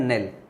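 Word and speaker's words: knell: उसको बोलते हैं नेल। उसको क्या बोलते हैं? नेल। इसमें के साइलेंट रहता है, तो शोक सूचक घंटे की ध्वनि होती है, इसको बोलते हैं।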